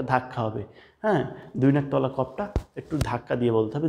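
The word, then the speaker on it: كاف: অফ অফ একটা ধাক্কা হবে হ্যা দুই নাকতওয়ালা কফটা একটু ধাক্কা দিয়ে বলতে হবে জিহ্বার গোড়া থেকে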